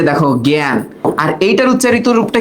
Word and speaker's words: জ্ঞান: এই যে দেখো জ্ঞান। আর এইটার উচ্চারিত রূপটা কি বলতো? একা। তাহলে এখানে আমরা দুইটা জিনিস দেখতেছি, এটার উচ্চারণ এর মতো হচ্ছে, আবার এইটার উচ্চারণও এর মতো হচ্ছে।